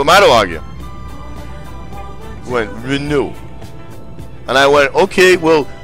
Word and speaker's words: Renault: my stream, and he was like, it is pronounced Renault. And I went, okay? Who am I to argue? Went, Renault.